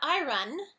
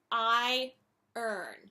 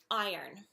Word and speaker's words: iron: speakers iron it's not I run it's I earn so it's like the word I and the word earn like earn a salary I earn so that's a little